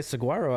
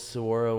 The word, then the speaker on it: saguaro: Did you know it was saguaro when you moved here, or did someone have to correct you? I think I got corrected. Because a saguaro is spelled with a G.